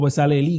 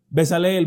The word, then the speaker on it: Bezaleel: Estoy hablando de Bezaleel, o Bezalelí, como se dice. Muchos pronuncian la S ahí, en el hebreo casi no se pronuncia. Bezaleel podremos decir.